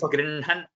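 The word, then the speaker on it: गृह्णन्: Here it is Grinhan, Nakara first, half, and then Hakara in full. Though it is written the other way, Grinhan, as we have pronounced.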